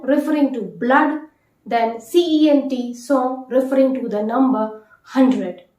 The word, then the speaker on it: cent: word you can take having the same sound or the pronunciation but the spelling differs so c-e-n-t song song refers to number 100